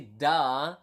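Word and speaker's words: dah: So with prolonged a. Da with prolonged a then here, right?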